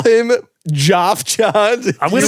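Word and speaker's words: Geoff: Jeff yeah it not Jeff I think it's Jeff it's Jeff I think most people who spell it like that go by Jeff you could call him Joff John I'm gonna call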